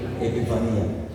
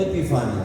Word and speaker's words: epifanía: La primera es parusia y la segunda epifanía. No epifania, no. Epifania es un nombre. Epifanía, porque es una palabra en griego.